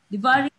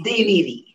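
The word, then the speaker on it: Deveeri: Diwari, I hope I'm pronouncing it correctly. Deviri. It's Deviri. Deviri.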